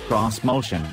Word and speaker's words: Xmotion: 2020 onward this motion which Nissan insists should be pronounced cross motion is a sturdily pen